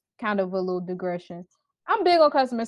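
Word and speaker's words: Lidl: but that area of town didn't have a little and I was like wait a minute it's pronounced Litt she was like yeah how you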